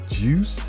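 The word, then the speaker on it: Guice: 84 overall, and Darius, is that Juice?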